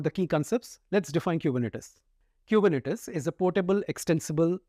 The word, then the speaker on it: Kubernetes: Do you know Kubernetes is sometimes abbreviated to K8s, but it is pronounced as Kubernetes only.